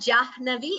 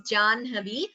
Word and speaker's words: जाह्नवी: Here the word is Janhavi. So please note the right pronunciation. It is not Jahnavi, it is Janhavi.